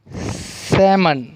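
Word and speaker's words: salmon: उसके बाद में जो लेटर है वो है एल साइलेंट। कौन सा है, एल साइलेंट। टॉक, काफ, काम, chalk, walk, Fock, half, सैमन। क्या है, सैमन, सैमन और पाम। तो यहाँ पर जो एल की आवाज़ जो है वो साइलेंट है।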